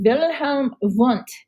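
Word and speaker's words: Wilhelm Wundt: of psychology first is wilhelm want you definitely have to pronounce the w's as v's that's how he's known it is german here's a nice little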